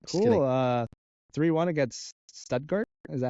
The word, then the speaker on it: Stuttgart: 3-1 against Stuttgart. Is that how you say it? Stuttgart, yep. Stuttgart. You're the resident European, so you have the pronunciations down.